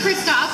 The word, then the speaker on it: Kristoff: And Chris Christopherson? It's Christoph.